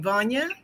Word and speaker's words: Vana: what uh uh Dr how do you say your name Vana van like Kanye okay and that's what